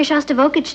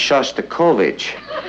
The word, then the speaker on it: Shostakovich: taking me to he shav vokic tonight honey I think that's pronounced Shostakovich we'd like to meet